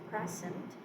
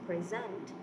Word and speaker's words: present: So when we say present, it is a noun. When we say present, it becomes a verb.